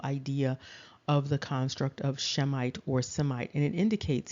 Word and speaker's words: Shemite: we talked about um it does indicate that it is the sh sound and so it would be shemite however it doesn't matter